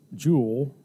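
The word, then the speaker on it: Jool: jewel 3.54 it's pronounced jewel because it's not it's a Mayan word not a Spanish one I actually asked that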